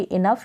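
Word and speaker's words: enough: दे रखा है पर्याप्त या भरपूर, मतलब कि इनफ या काफ़ी। इनफ का मीन दिया है, क्या इसका उच्चारण है, तो आप इस तरीके से सीख सकते हैं।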